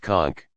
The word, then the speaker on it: conch: Many of us have held a large shell, usually a conch, pronounced conch, up to our ears and heard what sounds like waves crashing against the shore.